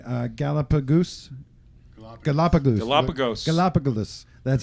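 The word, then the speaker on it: Galápagos: Galapagos.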